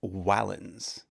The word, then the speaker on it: valens: it was a consonant like in the word valens which means strong although the romans would have pronounced it closer to wallins eventually the letter came